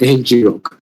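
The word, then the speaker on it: ngrok: very wonderful tool like I call it Rock, but I mean that's what a lot of people call it as, but you can also pronounce it as NG Rock.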